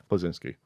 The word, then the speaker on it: Bleszinski: Bleszinski, is that how you say it? Mm-hmm. Bleszinski.